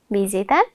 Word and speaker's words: विजेता: हेर्नुहोस् त, विजेता, विजेता, विजेता, यहाँ व लेखिए पनि हामी उच्चारणमा ब उच्चारण गर्छौँ, अथवा हामी पढ्दाखेरि ब पढ्छौँ। विजेता हामी भन्दैनौँ, विजेता भन्छौँ।